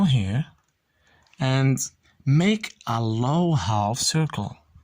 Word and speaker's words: ح: From here till here, get back, a low half circle. One more time. Again. One more time. Very good. This is the letter Ha, not Ha. Okay?